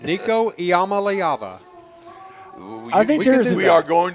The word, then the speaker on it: Iamaleava: You know, it's a six-syllable name, but we're intelligent. We can pronounce Iamaleava. Say it for me again. Iamaleava. Iamaleava. Iamaleava.